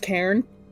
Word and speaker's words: Karen: It's pronounced Cairn.